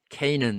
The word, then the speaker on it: Canaan: 가나안은 Canaan 이렇게 발음하죠.